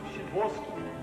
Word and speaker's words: Sadowski: Sadowski, Shavoski. A chance. Pronounced Shavoski.